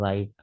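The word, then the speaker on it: write: राइट, डब्ल्यू आर आई टी। यहाँ पे W silent है।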